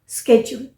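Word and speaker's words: schedule: हुआ operate on अ स्केड्यूल ये जो वर्ड है ना ये शेड्यूल नहीं है आइर यू कैन प्रोनाउंस ट शजल स्केल सो ट्रांसपोर्टेशन के फील्ड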